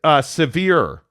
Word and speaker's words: Severi: Jeremy Severi says, morning, FYI, since we're on the trend of pronouncing names correctly, my last name is Severe.